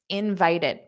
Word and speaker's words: invited: nice so notice here let's take the word invited this Ed functions as an extra syllable invited invited there are three three sounds but that e d isn't stressed so it's the the second syllable that's stressed invited d d invited